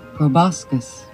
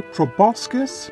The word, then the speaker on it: proboscis: You will find it pronounced both ways in various dictionaries, such as proboscis. Proboscis. I say proboscis because it comes from the Greek word for an elephant's trunk, proboscis, which translates as means for taking food.